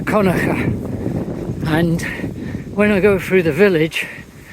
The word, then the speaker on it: Kilconquhar: So I have just ridden from Elie Holiday Park and I've come to what's spelled as Kilconquhar Estate, and I understand that it's pronounced Conacher, and when I go through the village you will see that.